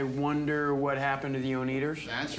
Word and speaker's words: Oneders: It's about this band called The Wonders, and at first they spell it with an O-N-E. The Oneders. That's The Wonders. D-E-R-S, but everybody pronounces it the Oneders, so eventually in the movie they just change it to the standard W-O-N-D-E-R-S. It doesn't work.